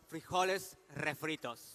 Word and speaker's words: refritos: And that's that's we call it refritos. Yeah. Refritos. Refritos. Yes. I like to I like to pronounce the R, you know.